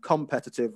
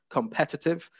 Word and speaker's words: competitive: So I think at one point you were saying competitive rather than competitive, which so you'd want to get the stress on the second syllable there.